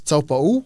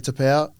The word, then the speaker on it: Taupau: Well, the proper pronunciation is top. Tap Marti Tapa.